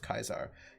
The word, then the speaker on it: Caesar: I think Julius Caesar's time, the Romans, like the Greek, had no soft C, so Caesar is pronounced Kaisar.